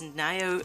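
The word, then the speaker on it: Nioh: This is Neo 2, or Neo 2. I think it's pronounced Neo, honestly. But I've heard it both ways, so I will say it both ways.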